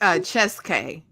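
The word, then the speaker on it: Kyazike: Ashley, how you pronounce his name? Oh, her name is Cheske.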